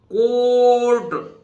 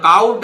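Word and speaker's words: court: rough कफ है ना अब देखिए कोर्ट सीओ यू य काउट नहीं है कोर्ट है है ना यहां देखिए सी के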